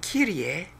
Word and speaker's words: Kyrie: And of course, the Greek word Kyrie, which is the word in that passage, is two syllables, not three, is used to speak of any high official, specifically God, but not merely God.